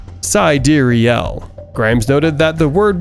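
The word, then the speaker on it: Sideræl: third part of wise full name sidrielle is pronounced SideReel Grimes noted that the word was a more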